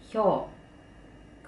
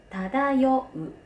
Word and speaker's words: 漂: 音読みはひょう、訓読みはただようです。